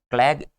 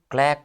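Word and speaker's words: clique: और क्लैग, क्लैग नहीं, क्लैक होता है, ये क्या होता है, क्लैक होता है, क्या होता है, क्लैक होता है, ना कि क्लैग होता है, ठीक है।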